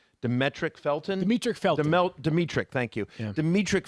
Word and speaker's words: Demetric Felton: and, I don't know if I'm going to pronounce the guy's name right, Demetric Felton? Demetric Felton.